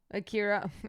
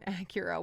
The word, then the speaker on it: Akira: Akira. Acura. Why am I pronouncing it like the car?